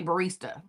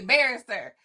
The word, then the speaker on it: barrister: No, because they never say it right. They say barista. So they don't even go there. So for you to say barrister, sis, we are besties now. No, people do not say it right. They say the old fashioned barista. And I'm like, there is no A at the end.